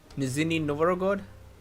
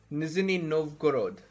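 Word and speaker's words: Нижний Новгород: How do you pronounce this city's name? Nizhny Novgorod.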